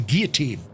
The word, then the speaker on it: guillotine: The guillotine, or the guillotine, as it's pronounced.